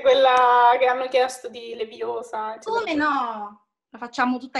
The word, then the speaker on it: Leviosa: Ci puoi fare anche quella che hanno chiesto di Leviosa. Come no? La facciamo tutta intera, come prima, sì, allora. Sì. Fermo, così caverai l'occhio a qualcuno. Per di più sbagli pronuncia. È Leviosa, non Leviosa.